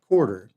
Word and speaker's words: Corder: You literally nicknamed me B chord, and it's so funny because my name is literally Quarter, Mm-hmm. and it's spelled like Corder.